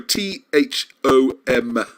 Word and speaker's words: Thom: Not Thong, sorry, Thom. M for mother, okay? Thom, yes, I'll start it off with this. Thom is very well known in circles. I think it's safe to pronounce his name properly.